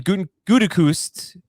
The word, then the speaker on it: Gutekunst: GM Brian Gutekunst will not trade Aaron Rodgers this summer, according to The Athletic.